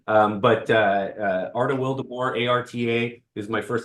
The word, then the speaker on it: Arta Wildeboer: Arta Wildeboer. Sounds just like it's spelled, or spelled just like it sounds, I should say. But Arta Wildeboer, ARTA is my first name.